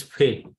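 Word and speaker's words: פ: is no dagesh or dot then it is fail it gives a sound in phone uh ph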